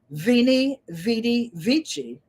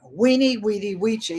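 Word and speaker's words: veni, vidi, vici: I used to have my favorite saying was venie VY vichi or weeny weedy Wii if you use that pronunciation depending on what language but it means I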